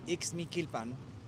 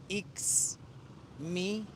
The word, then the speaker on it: Ixmiquilpan: So the way you pronounce this town that we're in is Ixmiquilpan. Ixmiquilpan. Ixmiquilpan.